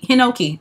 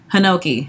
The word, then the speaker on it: Hinoki: Hinoki. Uh-huh. That. Hinoki, honey. Sounds like Pinocchio.